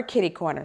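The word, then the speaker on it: kitty-corner: That's why it's spelled that way, but instead it is either catty corner or kitty corner.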